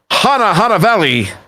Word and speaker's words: Hanavelli: My goodness, we really need a board, and it's going to be Hanavelli. That is with an N. The N is not silent.